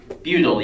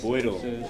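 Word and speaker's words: Beutel: Butyl, yes. Boydle. Boydle, yeah. Technically pronounced Boydle, but everyone says butyl.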